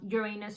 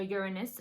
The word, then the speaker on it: Uranus: last year which is the planet of uranus or uranus however you want to pronounce it that is already in